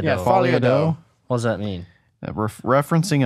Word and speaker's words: Folie à Deux: I'm not gonna pronounce this right. Joker Folly Deuce I think Doe. Doe. Folie à Yeah, Deux. Folie à Deux.